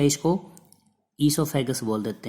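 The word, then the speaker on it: oesophagus: ठीक है, या इसको ईसोफेगस बोल देते हैं, ओ को साइलेंट कर देंगे, ईसोफेगस।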